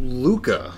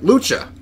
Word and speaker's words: lucha: They So, go- as we're sipping on these, Big Sue, you have this event coming up called the Bizarro Luca. Did I pronounce that right? Lucha. Lucha.